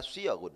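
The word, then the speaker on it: صيغ: Bacanya siyaghun, fi'alun.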